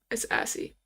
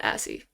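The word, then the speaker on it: ASCII: I really hope I pronounced that correctly. I just because I don't want to look stupid. We're going to have to put this volume up and see how he pronounces it just in case cuz we ain't going out like that. This assie. They they call it asie.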